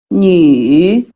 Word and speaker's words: 女: Selanjutnya Nü. nü. Ini ya kalau kalian lihat pinginnya ada titik dan nada ketiga. Nah, ini harus dipanjangin. Nü. Jadi bacanya seperti ada i. Nü.